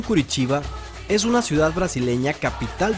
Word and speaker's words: Curitiba: sao paulo la ciudad de curitiba con su pronunciación curitiba es una ciudad brasileña capital del estado de